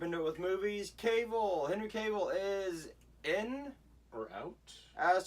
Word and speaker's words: Cavill: I don't even know if Henry Cavill knows. It's Cavill. Oh, Cavill. Yeah. Sorry, Henry Cavill. Sorry to be a Sorry. nerd, but yeah, it's pronounced Cavill.